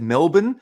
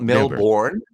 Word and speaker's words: Melbourne: there's uh you know oh yeah you said Melbourne not Melbourne right you know Americans would be very common to say Melbourne but no those those are probably the